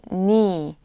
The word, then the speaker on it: 네: It's spelled 네, but you can say 니 in everyday conversation.